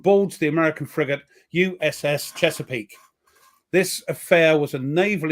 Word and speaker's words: Chesapeake: uh chess aak is it how do you pronounce that that Chesapeake yes it is Chesapeake yeah in the I